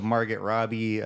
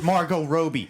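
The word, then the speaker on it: Margot Robbie: her yeah wait what you mispronounced her name on purpose that's the same as dead name can can can you just not roll along with the please yes I know it's Margo Roby I know that come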